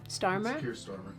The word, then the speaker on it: Starmer: Starmer.